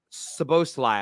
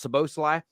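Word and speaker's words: Szoboszlai: name right Dominic uh supposed to lie I think it's pronounced so Bosley the RB Leipzig midfielder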